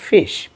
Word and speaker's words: ghoti: so normally মনে হচ্ছে ঘটি তাই না কিন্তু তোমরা আশ্চর্য হবে যে এটার উচ্চারণ হচ্ছে ফিশ তো চলো আমি দেখাই